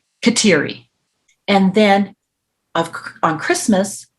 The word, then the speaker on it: Kateri: specifically Catherine of Siena in English we pronounce that Mohawk name katiri and then of on